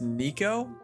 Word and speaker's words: Neko: His middle name is Nico, but it's spelled Neko.